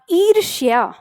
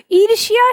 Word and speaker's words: ईर्ष्या: क्या कर दिया ईर्षा दोनों के उच्चारण में अंतर है वो है रशिया य का उच्चारण उसमें आता है लेकिन वहां पर हमने याय का उच्चारण गायब कर दिया ईर्षा कर दिया ठीक है आगे शब्द